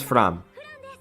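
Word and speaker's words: Framme: Fram. I mean, she pronounces as Fram.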